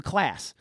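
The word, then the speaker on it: Claise: class it was it's spelled c-l-a-i-s-e he actually sent me an email the night that we recorded I got home and he's like no it's my name class so he didn't actually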